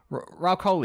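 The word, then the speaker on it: Rahul Kohli: uh R Co Coy do you know how to pronounce his name yeah he been in them Ral COI yeah yeah he's been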